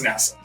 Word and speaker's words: Nassau: Uh, Nassau. Uh, Nisowl. Niss. I don't know how you pronounce it. NASA. Okay. I got that wrong for a long time.